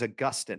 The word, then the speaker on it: Augustine: And Ken Flo's father's name is Augustine. Did I pronounce that correctly? Yes, exactly.